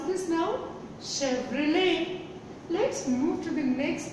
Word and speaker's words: Chevrolet: And you may make the same mistake in this, because again there is a T in the end. So it is not Chevrolet. Chevrolet. It is Chevrolet.